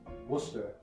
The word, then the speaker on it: Worcester: It's pronounced Worcester.